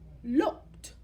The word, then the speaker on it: looked: Let's look at this word. Looked. Looked. Looked. She looked at the puppy. Yazira looked at the puppy. You hear a T sound. It's spelled ED, but you don't hear an ED. You hear the looked.